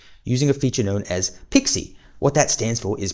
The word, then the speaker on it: PXE: It's in the PXE is pronounced Pixie.